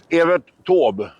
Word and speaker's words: Evert Taube: Hur uttalar man? Evert Taube.